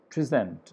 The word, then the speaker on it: present: It's same as the case with, if you can take the word, for example, here it is present and then present.